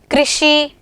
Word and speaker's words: कृषि: अब इसका स्वर कैसा होगा, री होगा, ना कि र। ठीक है, इसका उच्चारण हम कैसे करेंगे, कृषि, पृथ्वी, इस तरह से।